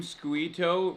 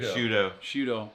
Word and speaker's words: Sciutto: Wait, you saw CNN anchor Jim Squito retweet it? How do you say his last name? Shudo. Okay, that's... Like prosciutto.